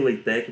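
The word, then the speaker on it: LaTeX: formação matemática chamada leitek é pronuncia waytec mais escreve látex uma borracha Tá certo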